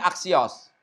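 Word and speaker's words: ἄξιος: Ini axios bacanya nih axios lihat tanda koma nyanyikan koma biasa kan berarti nggak tambah paint bacanya axios Axioo sini artinya tuh layak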